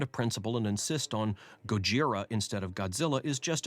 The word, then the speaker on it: Gojira: supposed correct title and they pronounce it gojira which is also wrong it's just a different wrong if we were proper and careful about getting the inflection right gojira maybe that would be